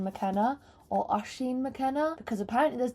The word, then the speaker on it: Oisín: Oisín.